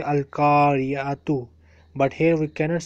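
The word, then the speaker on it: القرية: No, to don't say to say Al-Kariya. Okay, because it has that circle at the end. Okay, Yes, okay, it is. okay. Okay, I got it. I got you. It is written Al-Kariyatu, Al-Qariyah.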